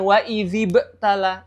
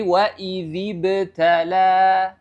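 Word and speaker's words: وَإِذِ ابْتَلَىٰ: contohnya waidziibtala waidziibtala ya Jadi bukan waidzibtala idziibtala ya tapi waidziibtala ya itu cara mengkol-kolahkan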